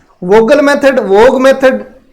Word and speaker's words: Vogel: वोगल का वोग मेथड भी कहते हैं भाई इसको। इंग्लिश की जो बुकें हैं उनमें वोग मेथड ही है ये, तो वो एल साइलेंट रहता है इसमें।